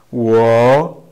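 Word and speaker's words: 我: Wo.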